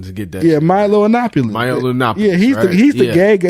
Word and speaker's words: Yiannopoulos: Like, did you pronounce his last name? I was struggling to get that. Yeah, Milo Yiannopoulos.